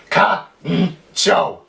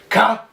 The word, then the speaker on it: カンチョー: So at the top here it would be pronounced Kancho, Kancho. But down here it's a little different. It would be Kancho.